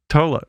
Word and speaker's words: Tolle: One, how did you pronounce Eckhart's name again? Eckhart Tolle. Tolle.